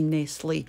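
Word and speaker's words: Nestlé: nestle how do you say that we say nestle and there's a big box box of cheerios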